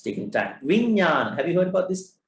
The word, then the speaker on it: Vijnana: Vijnana. Have you heard about this? Somebody writing here. Chan, WH. Found it. You nailed it down. Vijnana. What is Vijnana? What is Vijnana? Mano, Chitta, Vijnana. What is Vijnana?